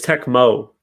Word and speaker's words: Tecmo: I think it's Tecmo, by the way, not Yeah, I Techno always Bowl. say it wrong. It's Tecmo Bowl.